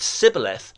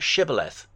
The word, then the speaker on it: shibboleth: They said sibboleth, not shibboleth.